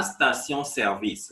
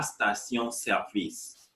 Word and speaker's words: station-service: La station-service, repeat after me. La station-service, filling station.